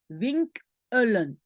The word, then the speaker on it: winkelen: Et donc, on ne prononce pas uitkelen, hein, mais c'est uit, particule uit, kelen, alors qu'ici, c'est winkel plus en, pardon, winkelen, ok?